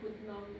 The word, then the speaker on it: Putnam: Davis is correct. Putnam, like man, love man.